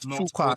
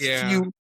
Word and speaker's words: Fuqua: It's fewa fua. Exactly. There's a I think someone explained how to pronounce it to me and he said it's not one qua, it's not two qua.